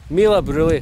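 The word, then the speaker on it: Meall a' Bhuiridh: someone they are Annie pronounced Mila brouilly meal up really high nicer I say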